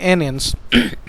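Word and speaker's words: aeons: ये इसको spell ANEONS, इसको प्रोनाउंस करते हैं एनियंस।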